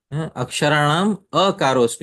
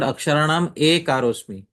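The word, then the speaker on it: akṣarāṇām akāro 'smi: Aksharanam akarosmi. You have to read in the Sanskrit. It's not Aksharanam A karosmi. It is Aksharanam akarosmi. Because A is a separate syllable in Sanskrit, and A is a separate syllable in Sanskrit.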